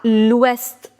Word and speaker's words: ouest: Atlantique à l'ouest. Here also you'll pronounce this T also.